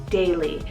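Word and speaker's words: Daly: and this is the name daily so d-a-l-y daily now this one means gather together and it's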